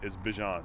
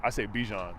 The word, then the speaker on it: Bijan: How you pronounce my name is Bijan. Okay. Like, that's how you say my name. But I say Bijan.